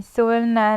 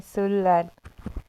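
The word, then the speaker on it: 설날: इसे हमें सोलनार नहीं बोलना क्योंकि ल के बाद नियन आता है, इसलिए सोलार।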